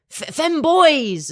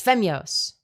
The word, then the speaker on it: Femyoz: just, you know, femoys, femboys. It's like, no, it's Femyoz.